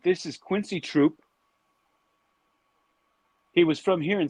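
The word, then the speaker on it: Trouppe: He originally, his name was originally pronounced Troupe, and he later on changed the pronunciation of it.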